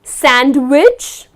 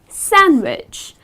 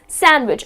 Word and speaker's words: sandwich: sandwich so it's not sandwich it is just sandwich again you do not pronounce the letter D it's just sandwich I am starving could